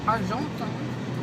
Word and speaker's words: Argenton: And now I am going to Argenton, not the Portuguese way of pronouncing it.